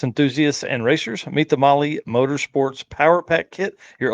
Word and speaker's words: Mahle: And for the podcast listeners, Molly is spelled Mahle.